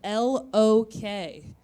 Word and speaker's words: Lok: It's spelled L-O-K. So a lot of people think it's pronounced Loke, like joke, but actually it's pronounced Lok, like cock.